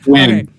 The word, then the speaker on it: Nguyen: Nguyen? How'd you pronounce that? Win. I think it was Win. Win. So, yeah. It's Win.